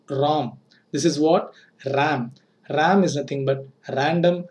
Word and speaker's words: RAM: RAM. Don't pronounce like ROM. This is what? RAM.